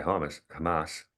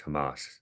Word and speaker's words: Hamas: had the attack by hamus I think I always get reprimanded it's Hamas proper pronunciation um I like to